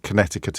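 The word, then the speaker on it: Connecticut: I know that the second C in Connect Conneticut is silent and you don't pronounce it but it's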